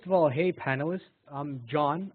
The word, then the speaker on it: Joan: So first of all, hey panelists, I'm John. I know it's spelled J-O-A-N, but let's just keep it nice and simple and call me John.